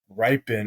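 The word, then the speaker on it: Rypien: their focus to Brett ripen I don't really know how to say his last name it's r y p i n Brett ripen that sounds about right honestly I don't quite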